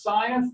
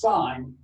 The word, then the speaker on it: sine: three major trig functions sine theta you write it you can skip the letter e it's still pronounced sine not sin there's enough of that around it's still turn out sine okay sine of theta